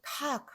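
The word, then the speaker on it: Tag: 그러면 여러분들이 그냥 그 발음인데요 라고 생각하시겠지만, 요게 유성음이라면 어떻게 발음해야 되냐면, 타그. 이렇게 발음해야 돼요. 타그. 네, 정확한 유성음으로 발음하려면 그렇게 해야 되는데, 우리 그렇게 발음하기 너무 힘들단 말이죠. 그래서 탁 하는 건데, 사실은 그러면서 이 그가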